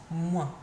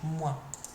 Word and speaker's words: moins: Remember, it finishes in your nose, moins. It sounds a bit like me, doesn't it? It sounds like moi, but it's more nasal at the end, moins.